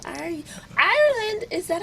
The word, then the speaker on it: Ireland: Ireland, is that how I'm saying it right? Am I saying it right? Like the country, yes.